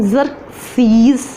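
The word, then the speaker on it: Xerxes: Included, जिसमें शामिल थे ज़रक्सीज़, this word is pronunciation ज़रक्सीज़, एंड आर्ताज़र्क्सीज़।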